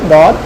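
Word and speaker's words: ضاد: মনে রাখবেন যে দদের উচ্চারণের ক্ষেত্রে যেন আপনার জিহ্বার আগাটা দাঁতে না লাগে, সামনের দাঁতে, জিহ্বার পার্শ্বটা লাগবে দাঁতে। জিহ্বার পার্শ্ব এবং মাড়ির দাঁতের গোড়ার সাথে আপনি লাগিয়ে বলবেন দদ।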